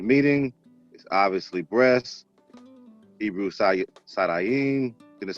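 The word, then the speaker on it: שדיים: Hebrew Sadayim, that's how you pronounce it.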